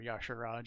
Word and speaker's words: Y'Shaarj: your charge is uh or yashar Raj if you prefer the old pronunciation Blizzard's kind of waffled on how they say it over the years but um by countering